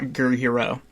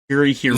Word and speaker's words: Gurihiru: I don't want to pronounce Gurihiru. That's how I figured it was pronounced. Or Gurihiru, sorry, not Gurihiro. Gurihiru.